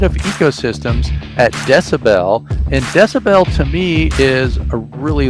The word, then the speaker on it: dcbel: That's sort of part of, more on the down the rabbit hole, but it's pronounced decibel, and we make a home energy station.